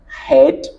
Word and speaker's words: head: la prononciation a changé il y a d'autres exemples dans lequels le digramme E A est prononcé e par exemple bread head pleasant et peant ce sont autant de mots dans lesquels le digramme EA est prononcé est il faudrait donc pour